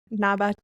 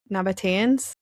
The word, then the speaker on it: Nabateans: It was home to the, oh God, I looked up how to say this before, Nabateans. Nabateans.